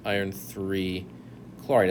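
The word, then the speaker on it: iron(III) chloride: there are roman numerals iron iii chloride and that's how you say it too the next one you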